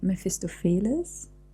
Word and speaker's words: Mephistopheles: So the cast for this scene is the Lord and Mephistopheles, as I already said. It's so difficult to pronounce because in German we say Mephistopheles, so the emphasis is very different.